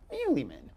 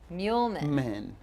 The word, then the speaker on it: Meuleman: Today, we get to have a chat with my friend, Heather Meuleman. I said it right this time. No, fudge. It's okay. Most people say it Meuleman.